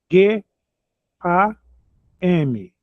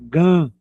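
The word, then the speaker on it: גַּם: na na aula inicial, o M no final aqui no Brasil, o brasileiro pronuncia de uma maneira frouxa, né? Gan. Gan. Mas no hebraico ele tem que ser pronunciado. Junta os lábios para pronunciar gam.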